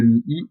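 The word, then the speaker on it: mihi: par une autre voyelle, et le premier I de mi-I est bref aussi, puisqu'on ne prononce pas le H, et donc le I se retrouve en hiatus.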